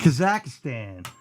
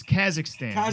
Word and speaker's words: Kazakhstan: Vic gets it again wait kazakistan he get it's Kazakhstan he said it wrong think La one is